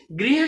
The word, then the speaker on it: गृह: तो देखिए जैसे आपने गृह शब्द का उच्चारण किया, आपने ये जरूर महसूस किया होगा कि गौ के बाद एक र का उच्चारण जो वो निकल रहे हैं, लेकिन ये बहुत ही कम है। तो ये जब शब्द उच्चारण करते समय र का उच्चारण निकले और बहुत कम हो और इस र का उच्चारण ई की तरह हो, तो तुरंत आप उस